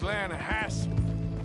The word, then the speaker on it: Lanahatchee: Yeah, but it's pronounced Lanahatchee. Why is everything in English said differently than it's written?